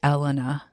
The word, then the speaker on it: Elena: woman whose name is, I'm going to say Elena. It's spelled Elena. But if there was an H in front of it, you would say Helena. So I've just been saying Elena, but you could probably say Elena.